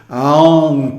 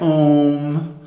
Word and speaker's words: Aum: If you chant Aum, you can feel the energy move up your nose into the third eye, the Ajna-cakra, where it becomes fixed. So people who chant Om, if they get anything